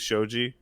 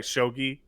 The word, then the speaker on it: shogi: There's a bit in Hunter Hunter that's really bizarre that has to do with Shoouji. Sorry, Shogi.